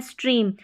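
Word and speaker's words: stream: है लास्ट में के को छोड़कर ये है स्ट्रीम। अब यहां पर इसको स्टेम नहीं पढ़ेंगे क्योंकि इ ए का उच्चारण बड़ी ई के रूप में हो रहा है।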